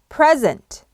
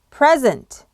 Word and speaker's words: present: 발음은 악센트가 앞에 있는 pre에서 오는 거고요. 그리고 pre를 pre라고 발음 안 하고 다시 pre로 발음을 해야 됩니다. 그래서 present입니다.